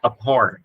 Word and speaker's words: abhor: Alright, I can't stand, I abhor, nhấn âm số 2, abhor.